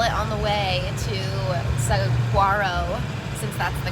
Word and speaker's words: Saguaro: caravanning with saw it on the way to saguaro since that's the correct way to pronounce it um national park and he's never